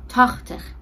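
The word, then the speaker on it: tachtig: تاختخ که هم نوشتنش هم تلفظش با بقیه یکم فرق میکنه، چون ما 8 رو خوندیم شد آخت. 8 میشه آخت. 18 میشه آختین. آختو میاره، بخش آخر تینه که میشه 10. خب اما زمانی که میگه 80، آخت اولش نیست و میگه تاخ، یعنی یه ت اضافه میشه، میشه تاختخ.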